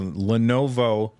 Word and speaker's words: Lenovo: Anything else that you guys want to talk about with the Lenovo, I said it right this time, Legion Go, before we move on?